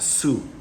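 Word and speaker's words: Sioux: u x s i o u x that's pronounced su su uh i know it's kind of strange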